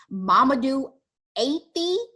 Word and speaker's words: Mamadou Athie: I tried to find the correct pronunciation. Mamadou Athie.